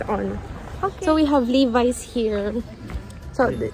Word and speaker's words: Levi's: So we have Levi's here. So, how do you pronounce Levi's?